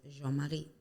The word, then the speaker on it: Jean-Marie: I my name is Jean Marie actually pronounces it correctly it's French so that's why we call it but it's Jean Marie how are you doing